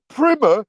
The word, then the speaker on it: primer: It's pronounced primmer.